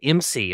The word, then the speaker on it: IMSI: and now you said MC is kind of how you pronounce imsi right MC yeah yeah